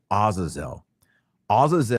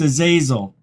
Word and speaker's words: Azazel: his women is named Azazel oel he said it wrong it's a zazil ah this guy this